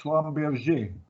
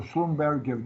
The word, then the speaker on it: Schlumberger: uh you know about slumberg all oil companies know how to drill but only very few of them like zombies uh or schlumberger depends on on how you pronounce it don't know where to